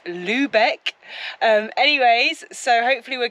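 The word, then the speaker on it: Lübeck: recently um for example we said Lebec and it's Lubeck um anyways so hopefully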